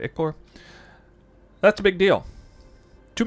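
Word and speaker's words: ichor: as eldritch ickers that's how you say it icor icor that's a big deal too many people are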